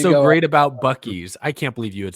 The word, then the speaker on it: Buc-ee's: He probably still pronounces it like Busey's, like I did.